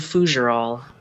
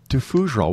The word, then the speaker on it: Fougerolles: It's pronounced FOUGEROLLES. FOUGEROLLES.